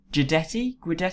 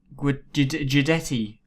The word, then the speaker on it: Guidetti: I would like to offer Guidetti. I still don't know how to pronounce his. I guess if Giuseppe is G, so it's Guidetti, I reckon.